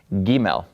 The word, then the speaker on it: Gimel: A, B, C, okay, but this is not a C sound, it's a G sound, Gimel.